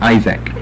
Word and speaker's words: Isaac: We cease with the use of the short I, like Ishak and Ishak. We go to a long I, we change the pronunciation of the double A in the Greek, and we shift the accent from the second to the first syllable.